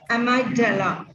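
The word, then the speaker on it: amygdala: y g d a l a that I pronounce as amadel this is the small structure loded deep between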